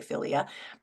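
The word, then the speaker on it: philia: of the definition and filia filia is the first one that's p h i l i a filia and that's brotherly or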